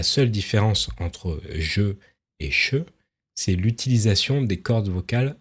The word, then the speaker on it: je: Alors là, il y a un deuxième mécanisme, qui est qu'on va contracter et le je va se prononcer che.